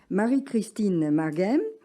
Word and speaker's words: Marie-Christine Marghem: À sa gauche, Marie-Christine Marguem, j'ai bien prononcé?